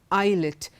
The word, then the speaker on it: islet: words in Aisle Island islet in none of these words is s pronounced now let's look at